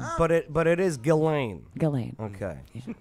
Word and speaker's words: Ghislaine: it but it is galane galane okay so the S is silent so is the age